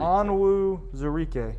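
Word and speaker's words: Onwuzurike: Pronounce. Zarike. Onwu Zarike.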